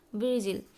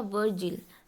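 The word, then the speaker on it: Virgil: आई number question पे आते हैं, हु वॉज वर्जिल या वर्जिल, दोनों ही तरह से प्रोनाउंसिएशन इसको आप करिए, या फिर इंग्लिश के ही स्पेलिंग को ध्यान में रखिए। हिंदी वाला प्रोनाउंसिएशन थोड़ा वेरी करता है।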